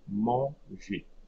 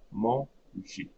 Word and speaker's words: manger: So it's a soft G, manger, manger.